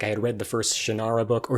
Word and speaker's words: Shannara: had read the first Shannara book or Shannara however you want to pronounce it um my dad said shinara so I say shanara um so but I